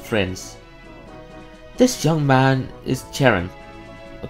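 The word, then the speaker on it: Cheren: This young man is Charon. Or Karen. I actually don't know if Charon or Karen, how to pronounce that. C-H, I think it's Karen.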